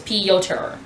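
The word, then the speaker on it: Pyotr: It's P and then yo, like yoga, he said, and then Ter, like T-E-R, like Ter, so it's Piotr, which he said is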